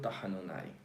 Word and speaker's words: tahanun: Son 3 sílabas. Tahanun. Termina en N.